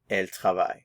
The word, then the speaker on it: ils: ENT which gives us El notice the pronunciation we're not pronouncing the consonants at the end IL and El so